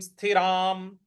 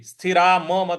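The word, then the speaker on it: स्थिराम्: प्रकार से चंचलत्वा स्थिति स्थिराम स्थिराम स्थिराम देखिए स्थिरा मत बोलिएगा यहां पे हलंत लगा हुआ है स्थिराम चंचलत्वात स्थिति स्थिराम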